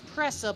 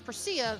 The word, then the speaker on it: Presea: I thought it was Pressa, but if it's Presea, very well.